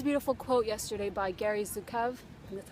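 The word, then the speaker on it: Zukav: I read this beautiful quote Yesterday by Gary zukov and that's how you say his name the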